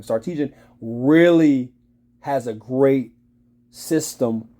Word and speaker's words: Sarkisian: Sarkisian is how you say his name. I think that's how you say his name. Sarkisian really has a great system when it comes to the University of Texas.